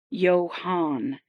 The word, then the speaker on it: Yoan: Here, the shipwright pronounced the name so as not to get it incorrect. Yo Han, and listened to Romel repeat it satisfactorially.